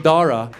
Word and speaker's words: Dara: what to do with the silent H in Dara. And they don't want to mess it up. They don't want to offend us. So we walk in, I see his white teachers, they're sweating bullets. And they start saying his name, hoping that will help them out. They're like, you know, your son, but there's no cha. Where'd you see the cha? The H is silent.